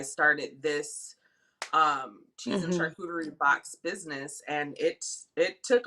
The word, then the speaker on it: charcuterie: actually how you pronounce So, it. It's charcuterie. yeah, charcuterie.